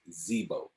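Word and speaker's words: Dzbo: name is Zebo, Zebo. and we spell it Okay. DZ-BO. The D is silent.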